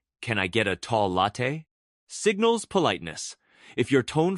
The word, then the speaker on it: latte: For latte, stress the first syllable, latte.